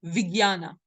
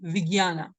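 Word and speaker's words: vijñāna: us because we have Consciousness now this is Viana remember to pronounce it in the actual way Viana Viana right so g y an is the pronunciation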